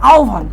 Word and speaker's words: আহ্বান: আমি আহ্বান দিয়ে বুঝাই দেখো আহ্বানে বানান কি লিখতেছি এটা আহ্বান সঠিক উচ্চারণ হচ্ছে আহ্বান আচ্ছা আমরা বানান লিখতেছি আহ্বান